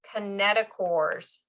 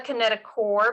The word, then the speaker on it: kinetochore: these ring structures those ring structures are called kinetochores so it's called it's called a kinetic core but it's spelled kinetic chore so this is pronounced k